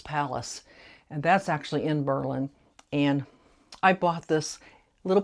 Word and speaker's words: Berlin: It's called It's pronounced Berlin, not Berlin like in Germany. It's pronounced Berlin, Ohio.